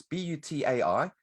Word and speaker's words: butai: But there's a little theater box that you use, and in Japanese, I think it's pronounced butai. It's butai, which is the case.